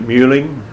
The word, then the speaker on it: Meehling: visited some of those folks it was they pronounce it muing muing uh-huh it was m u HL i